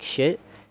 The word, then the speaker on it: Shiat: And my name is Shiat, but it's said like shit.